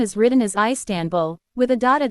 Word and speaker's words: Istanbul: In English the stress is on the first or last syllable, but in Turkish it is on the second syllable.